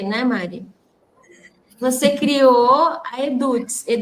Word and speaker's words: Eduts: Você criou a eduts? É assim que fala, Eduts. É eduts, isso, assim que a gente pronuncia, né?